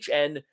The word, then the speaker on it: Zuhn: Trey Zoo I think it is. It's Zuhn the third.